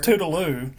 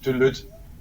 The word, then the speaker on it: Tüdelüt: But you know, I was thinking that's pronounced Toodaloo. Yeah. It's not. Is it pronounced Is that how you Toodaloo? pronounce it? Tüdelüt, yeah. Tüdelüt. Like in German, you speak the T in the end in German.